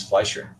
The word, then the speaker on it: Fleischer: How do you pronounce it? It's Fleischer. Mr.